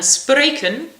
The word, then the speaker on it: spreken: And spreken, I thought was like a spray can. Het woord getrouw dat ge on-buh-fraysd moogt spreken.